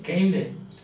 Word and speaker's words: kinde: And as by way of kinde, that is Middle English now, where the last E is pronounced, like aprile, kinde, I should have died.